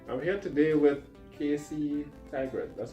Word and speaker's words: Tygrett: Um, I'm here today with Casey Tygrett. That's how you pronounce that?